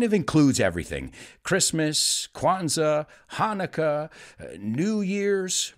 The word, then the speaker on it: Hanukkah: are people who celebrate Hanukkah. Those are Jewish people, Jewish friends of mine who celebrate Hanukkah. Aunque tenga una CH, se pronuncia Hanukkah, which is an eight-day celebration.